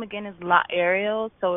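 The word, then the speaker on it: Laaerial: My name, again, is La Ariel, so it's spelled L-A-A-E-R-I-A-L. Just think Ariel, like an aerial view, but with a law in front.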